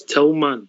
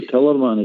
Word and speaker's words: Tillman: We've got to get a pronunciation right for the Allens Glens rejects. It's Tillman, yeah? Tillman. All right. Tillman, yeah. Keep them happy. No, Tillerman is Tillman.